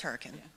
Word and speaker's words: Hurricane: those stories so also there's a town in West Virginia that's spelled hurricane but it's hurricane and that's the number one way we can tell so if you're ever around there it's hurricane now now we know so